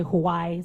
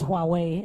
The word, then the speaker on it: Huawei: Some say Hawaii, some say Hui, but I think it's Huawei.